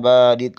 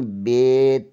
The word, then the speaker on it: با: تلفظ سے پرہیز کریں، یعنی بے، تے، سے، جیم، اے، خے، توئیں، زوئیں وغیرہ ہرگز نہ پڑھیں، بلکہ با، تا، سا، حا، خا، تو، زو پڑھیں۔ ان 29 حروف میں